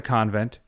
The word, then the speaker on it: convent: The word is pronounced convent. It's pronounced coven. The password is convent.